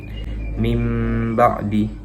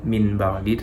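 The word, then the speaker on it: مِنْ بَعْدِ: Kemudian nunnya itu juga seakan-akan menjadi mim gitu. Jadi bukan lagi cara membacanya min ba'di, tetapi mim ba'di, masuk kepada huruf ba ya.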